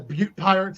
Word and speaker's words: Butt Pirates: And one of his worst enemies is this group of pirates called the Butt Pirates, or as they pronounce it, the Butte Pirates, Butte.